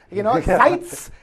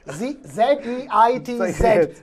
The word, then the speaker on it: Zeitz: Zeitz, Z-E-I-T-Z, Zeitz.